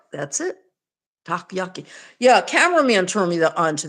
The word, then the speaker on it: takoyaki: How do you pronounce it? Takoyaki. That's it. You're right. That's it. Takoyaki.